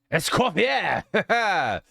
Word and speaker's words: Escoffier: You pronounce it right, by the way. Escoffier. Uh-huh. I'm very French. It's a French name, I assume.